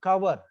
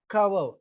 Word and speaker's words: cover: So, if you use the stress on the first syllable, for example, look at the word cover, cover. The stress is on ka.